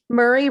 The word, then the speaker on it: Murray: Murray rhymes with Yuri.